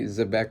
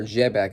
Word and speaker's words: Xebec: But yeah, I mean, we had obviously the the Rox D Zbeec reveal or Jebbec. I think Jebbec is actually how you pronounce it, but I'm going to keep saying Zbec for now.